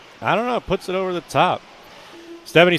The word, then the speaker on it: Stephan: Stephanie says, Scotty, tell your co-announcer that my name is pronounced Stephan.